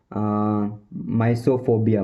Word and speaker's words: mysophobia: इस इसको बोलेंगे माइसोफोबिया, माइसोफोबिया, माइसोफोबिया, माइसोफोबिया, माइसोफोबिया।